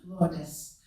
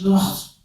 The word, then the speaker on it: Lourdes: I love the Spanish pronunciation, Lourdes, with its round and cornered letters, richer than the brusque French Lourdes, where the liquid of the first syllable dries out on a quick exit of the second.